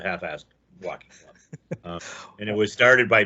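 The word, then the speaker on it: Half Fast Walking Club: an S Walking Club, which everybody in New Orleans, of course, pronounces the Half-Assed Walking Club.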